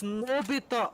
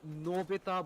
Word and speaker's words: Novita: wouldn't do it it's mobita oh my god i've been saying his name wrong for the past couple of games apologies it's novita but a lot of gadgets